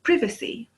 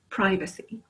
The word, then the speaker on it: privacy: In England, we would say privacy, but here it's privacy.